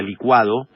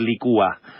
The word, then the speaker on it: licua: se enojaba conmigo porque sé que yo digo licua y es lo correcto se dice en licua no se dice me cuba después con el uso incorrecto del término en la academia probó decir licúa pero lo correcto decir licua señora usted que está